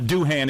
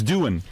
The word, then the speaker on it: Doohan: It's not Doohan, it's Doohan. I never knew. It's spelled...